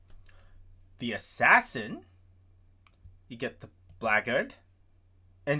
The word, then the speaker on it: Blackguard: The Assassin, you get the Blackguard, and it's pronounced Blackguard, by the way, from my understanding, not Blackguard.